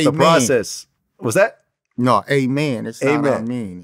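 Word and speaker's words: Amin: he talked about the process was that no amen amen I mean it's Amen oh that's how you pronounce it amen Joseph yeah oh my bad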